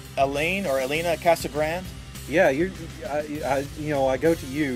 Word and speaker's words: Casagrande: It's Elena Casagrande. Yeah, I go to you. You're my go-to person for pronunciation of names there. So just want to make sure. Casagrande.